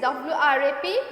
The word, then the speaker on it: wrap: And next is WRAP wrap, WRAP wrap. So here W will be silent, so W here.